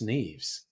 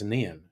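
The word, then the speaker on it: Niamh: And this one I only know because there were some famous Neves. But yeah, you look at that and say it's Neam. But Neve.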